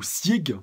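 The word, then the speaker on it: Zeke: son fils donc voilà Zek ou Sieg ouais les deux prononciations sont possibles donc voilà je mets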